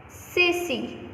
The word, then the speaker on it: Ceci: So soft C. Why? Because C is followed by E. So the sound of C changes into S. Ceci and Coco.